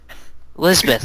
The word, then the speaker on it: Lisbeth: Lisbeth. It's a Japanese pronunciation of an English name.